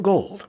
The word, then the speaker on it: Gould: Robbie Gould is a name you got to get used to. You've got to train yourself to mispronounce it because he does. It's Gould, but we have to call him Gold.